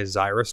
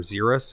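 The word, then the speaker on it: Xyris: i love this and my zyrus deck or zerus however people want to pronounce it so good oh yeah you're gonna draw six cards in your upkeep i will draw 12.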